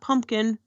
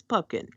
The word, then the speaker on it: Pupkin: Not Pumpkin, Pepkin, Pomplamoose, it's Pupkin.